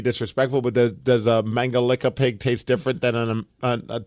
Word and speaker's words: Mangalica: We have a special Hungarian pig called a Mangalitsa pig or Mangalica pig. Mangalica? Yes, that's how they say it overseas.